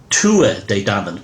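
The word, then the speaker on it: Tuatha Dé Danann: of the Goddess danu by the way it's pronounced Tu de Dan not to as some of these so-called researchers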